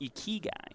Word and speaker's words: ikigai: Ikigai.